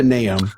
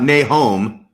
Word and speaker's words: Nahom: Now, it's not Nahom, like No. the Book of Mormon. It's Nahom.